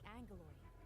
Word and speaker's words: Angoloi: So the word looks like Angoloi, There are just too many Angoloi. but they pronounce it like it has an N in it, like it's A-N-G, Angoloi.